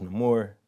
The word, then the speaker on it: Namor: many names but also a name that's pronounced in different ways sometimes it's no more sometimes his name or depending on who's saying it um he'll answer to